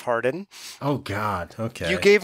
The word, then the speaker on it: Harden: feels awkward Jar Fardeen Hardeen and I totally mispronouncing everything well thanks for having me back yeah it's just Harden Oh God okay you